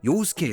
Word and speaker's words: 요우스케: 알고 있는 인터넷에 떠도는 요우스케의 서사임. 하지만이 스토리는 실제 내용에 비해 과장된 면이 있음. 첫째로이 남자 이름의 올바른 발음은 요우스케.